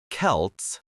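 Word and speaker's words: Celts: These venerable communities were known as the Kelts, pronounced Kelts, with a hard C.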